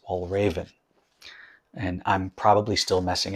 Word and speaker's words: Valravn: this i was saying val raven because you know i'm a silly american but apparently it's pronounced wall raven and i'm probably still